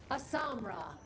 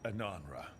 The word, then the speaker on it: Ananra: Asamra. That's Kunlat for congratulations, right? You might want to try Ananra. You just said, we are doing you. I was saying it wrong all this time.